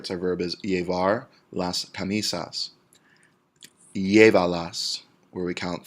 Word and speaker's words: llévalas: Llévalas, where we count 3 syllables back. Llévalas is 3 syllables. We go 1, 2, 3 back. Accent on our E.